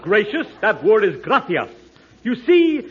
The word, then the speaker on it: gracias: Muchas gracious amigos. No, no, no, not gracious. That word is gracias. You see, in Spanish, the C is pronounced th gracia.